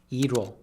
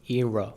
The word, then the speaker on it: 이뤄: It's "이뤄," sung as . 이뤄지다 is a shortened form of 이루어지다, meaning to come true or to be achieved. But in the song, ㄹ gets pronounced like an English "r", giving you that smooth "i-reo" sound.